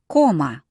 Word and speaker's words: Кома: And the Russian O, when it receives the stress, as it did here, Кома. sounds like О.